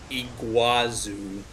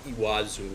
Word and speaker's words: Iguazu: that was iwazu Falls Iguazu is how it appears but iwad zoo is how they pronounce it I'd never heard